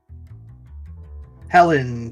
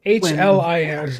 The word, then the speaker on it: Hlyn: Helen Trollbane. Helene. Let's see how close we go. Yeah, her name is spelled Hlyn. Hlin. Yeah, Hlyn Trollbane.